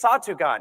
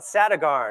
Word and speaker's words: Satugan: I remember wanting to push back and be like, "No, this is how you say my name. It's Satugan. It's not Satagarn or it's not Saturn."